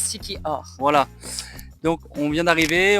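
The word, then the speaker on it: Siquijor: on vient d'arriver à Siki jor ou Siki or oui parce que ça se prononce Siki or voilà donc on vient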